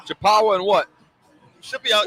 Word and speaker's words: Chippewa: Oh, how do you pronounce that again? Chippewa. Chippewa and what?